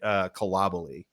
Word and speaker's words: Koulibaly: professional soccer, it's been Koulibaly. So who knows? But for what it's worth, the French are pronouncing it Kalabali, which is different for me.